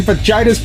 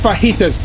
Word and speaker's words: fajitas: yeah I would like to have 6,000 chicken fitas please I'm sorry what was that 6,000 chicken fitis and a sage MC biscuit please it's pronounced fajitas peeps unfortunately Lois is given the welfare check